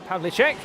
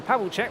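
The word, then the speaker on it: Pavlíček: That's Yan Pavlichek. And I should apologize there because I've been referring to him as Yan Pavichek when actually I do believe the pronunciation is Yan Pav Lichek as he makes and through.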